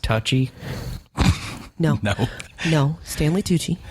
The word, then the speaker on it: Tucci: That Pronounced touchy. no, No, Stanley Tucci. it's touchy.